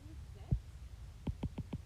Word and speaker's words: vous êtes: Vous êtes is sound-essive.